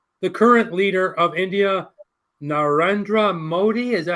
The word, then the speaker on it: Narendra Modi: And would you prefer to eat lunch with him or the current leader of India, Narendra Modi? Is that how you say it? Mr. Modi, Narendra Modi, yeah, that's him.